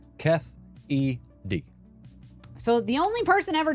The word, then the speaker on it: Keffe D: It says pronounced Keffe D.